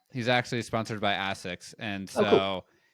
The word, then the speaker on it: ASICS: He's actually sponsored by ASICS, and so cool. which also I pronounce that the British way. We call it ASICS. I would pronounce it ASICS as well. I always heard ASICS.